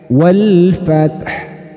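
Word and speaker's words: وَالْفَتْحُ: bunyi hak sukun itu nah bunyi hak sukun itu teman-teman cara membacanya itu mirip dengan suara pernafasan nah seperti itu Jadi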